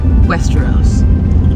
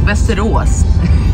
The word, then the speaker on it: Västerås: Seriousness though, we are actually heading to Westeros, not Game of Thrones. Västerås is actually how we pronounce it here.